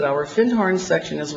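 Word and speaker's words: Findhorn: in the horn and he corrected my pronunciation he said you mean Finn horn he said our fin horn section is right down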